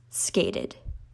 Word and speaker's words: skated: Well, no, because the E in the word skate is silent. So then the T is the important part. It's the last pronounced letter, so it becomes skated.